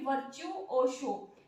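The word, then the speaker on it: virtuoso: वर्चुओसो, इसको कैसे प्रोनाउंसिएशन करेंगे? वर्चुओसो।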